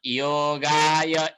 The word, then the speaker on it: योगः: यहाँ जो विसर्ग आएको छ हेरी, यो योग पछाडि दुईटा थोपा आएका छन्। यसलाई अलिकति आधा ह जस्तो उच्चारण गर्नुपर्छ, ह जस्तै बोल्नुपर्छ।